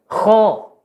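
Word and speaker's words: خ: Kho. Belakang lidah dinaikkan ya, Bu. Ini udah pas ini Kho. pengucapannya. Iya. Tinggal belakang lidah dinaikkan menjadi kho.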